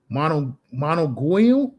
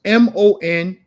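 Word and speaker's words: Managua: Monoguil? I can't pronounce that. In the jungles of Bloomfield, nice spot. It's quiet. Amazon women up in that joint. So it's Monagua.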